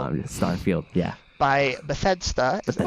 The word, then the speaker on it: Bethesda: By Bethesda. Is that how you say their name? I've been saying. How do you say it? Bethesda. Bethesda? Yeah. It's Bethesda.